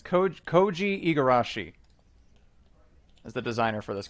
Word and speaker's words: Koji Igarashi: upside down, it's I always forget how to pronounce his first name. It's Koji Igarashi is the designer for this game.